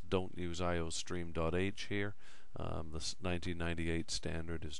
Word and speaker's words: iostream: Now after that, because this is a C++ program, written in the ANSI 1998 standard, we need to include iostream. [pronounced eye-oh-stream] Any program you write this term will need to include the iostream input/output library.